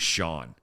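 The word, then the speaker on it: Scian: The name was Sean. So it could have been sheer he. And it wasn't spelled like anything you've ever seen.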